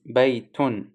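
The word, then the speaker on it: بَيْتٌ: It's actually non-written noon sakina, so it must be the pronunciation we pronounced is baytun, have noon sakina at the end of the word, but it is not written.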